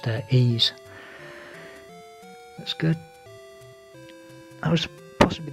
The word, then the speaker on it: Ys: history of ease I used to call it wise but apparently pronounced their ease that's good I was possibly the first console